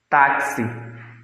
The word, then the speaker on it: táxi: Táxi. Na palavra táxi, nós temos 4 letras e 5 fonemas. A letra X da palavra táxi é pronunciado com um som de C e S, tá?